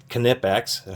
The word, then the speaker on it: Knipex: tools, whether it's the Knipex pliers wrench, which Knipex, I should say, try to say it correctly, which are excellent, the pliers wrench, which are, very copied now.